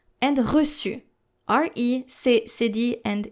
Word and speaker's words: reçu: No matter the vowel following the letter C with a cédille, you will need to pronounce it just like the letter S.